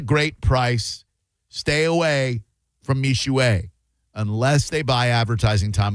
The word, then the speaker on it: Mixue: Have you heard of Mixue? No. It is spelled Mixue. M-I-X-S-U-E. Mixue, but it's pronounced, M-I-X-U-E.